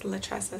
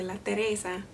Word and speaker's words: Latressa: It sounds like Teresa, like because my name is Latressa, so people say La Teresa, and it kind of sounds like Mother Teresa, Mother Teresa.